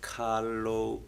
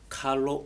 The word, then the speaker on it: Kaloob: your dancing group is Carlo oh yes exactly a three syllable word so that sky your